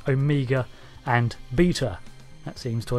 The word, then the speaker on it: Omega: For example, the Omega in Doctor Who, it's his name, so I made an effort to pronounce it as Omega rather than Omega or Omega.